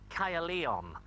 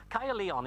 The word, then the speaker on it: Caerleon: to newport this is kya leon but it's important because it's roman and we needed some roman in the pre we did come on kaia leon is actually how the welsh pronounced castra ligionum which means fought for